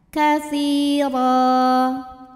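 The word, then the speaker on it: كثيرا: Huruf ra dibunyikan secara tafkhim karena berbaris tanwin fathah, maka dibacanya ditebalkan. Ra. Kemudian ra jika berhenti di ra hukumnya adalah mad iwad karena ada baris tanwin fathah yang diberhentikan. Cara bacanya baris 2-nya jadi 1 jadi fathah dan panjang 2 harokat.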